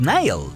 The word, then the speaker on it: Nihil: Pero con esto también se nos presentó a los nuevos villanos alienígenas que su nombre se pronuncia como los Nihil, un grupo de alienígenas